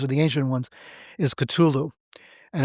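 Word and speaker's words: Cthulhu: the ancient ones is culu and it's spelled c t h u l hu right no one knows how it's really pronounced it's like supposed to be a garbling in the throat sound like it's it's a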